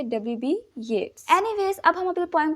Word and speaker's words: Yeats: First of ऑल आप poet के name की प्रोनाउंसिएशन करेक्ट कर लीजिए। अक्सर बच्चों को मैंने कहते हुए सुना है W.B. येट्स। ये येट्स नहीं होता है, ये होता है येट्स, W.B.